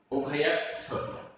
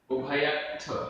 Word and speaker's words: उभयत्थ: उभयत्थ, उभयत्थ, आधत्ता थ, उभयत्थ।